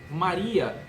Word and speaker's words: María: María, mire la fuerza, la pronunciación. ¿Es María en español también? Sí. María. La fuerza está en el I.